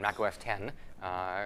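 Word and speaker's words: Mac OS X: So I had previously lived in the Apple world, running Mac OS and as it was called then Mac OS 10, written with an X but pronounced 10.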